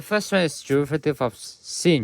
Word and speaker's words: sinh: The derivative, and the first one is derivative of sinh x. We pronounce this as sinh or hyperbolic sinh, hyperbolic sine x. You can pronounce this as 2 ways.